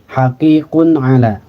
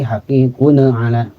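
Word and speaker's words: حَقِيقٌ عَلَى: Ini domatain berhadapan dengan ain dalam dua kalimat. Haqiqun ala. Jadi tidak dibaca haqiqun ala. Apalagi haqiqun ala. Atau ditekan bunyiannya. Haqiqun ala. Ya, jadi langsung ya bunyikan n tapi tanpa dibaca lama.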